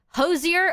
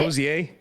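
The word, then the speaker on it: Hozier: Hosier? That is not how you fucking pronounce his name. Hosier? Oh, it's Hosier. Hosier. Isn't it Hosier? That is the wrong emphasis on the wrong syllable there.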